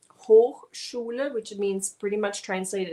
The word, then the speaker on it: Hochschule: Word number two is we pronounce it Hochschule. Hochschule, which means pretty much translated as high school, but it's not the high school.